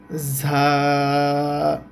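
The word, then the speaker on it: زاي: আচ্ছা উপরে এক নুক্তা এই অক্ষরটার নাম হচ্ছে ঝা উপরে যে এক নুক্তা এই অক্ষরটার নাম হচ্ছে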